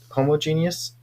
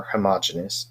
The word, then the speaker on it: homogeneous: So homogeneous or homogeneous, as some people pronounce it, means uniform throughout.